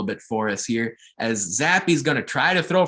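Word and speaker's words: Zappe: led by quarterback bailey zappy and that's how you pronounce it zappy he threw for over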